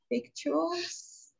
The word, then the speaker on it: victuals: For then had we plenty of victuals, and were well, and saw no evil.